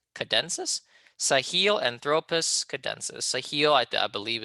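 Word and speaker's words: tchadensis: The T here is silent, cadensis.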